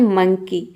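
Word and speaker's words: monkey: तो मंकी में आप देख रहे हैं कि ई वाई एक साथ आ रहा है तो यहाँ पे देखिए एम का तो म हो जाएगा और इसमें ओ को हम अ प्रोनाउंस करेंगे।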